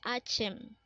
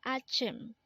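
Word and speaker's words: 아침: Next word is Achim. Again, this is pronounced as Achim, and this is the Korean term for morning. Again, Achim is morning.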